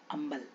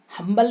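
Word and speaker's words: humble: अंबल इसको क्या पढ़ेंगे हम अंबल हमल नहीं पढ़ते अंबल ओके अब के साइलेंट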